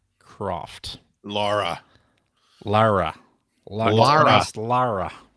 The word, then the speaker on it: Lara: Greg I know that you do enjoy some Lyra Croft Lara Lara Lara right get that joke um